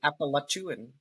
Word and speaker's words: Appalachian: The correct way to pronounce it is Appalachian.